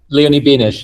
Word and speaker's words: Benesch: out, and the character, help me if I'm mispronouncing her name, is it Leonie Benesch? Leonie Benesch, yes.